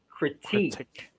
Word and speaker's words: critique: is a critic yes but you say the word as critique critique so stress is a second syllable not then critique somebody